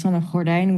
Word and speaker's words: Sanne Gordijn: So my name is Sanne Gordijn, which is quite difficult to pronounce if you're not used to the G.